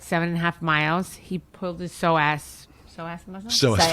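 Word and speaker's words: psoas: He pulled his So as muscle.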